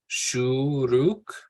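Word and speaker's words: שורוק: So the actual name of the vowel has the sound that it makes. So Shuruk and Kibbutz.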